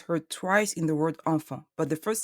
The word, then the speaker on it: enfant: E, N, and A-N produce the sound en. The T and the S in the word enfant are silent. Don't say enfants, say enfant.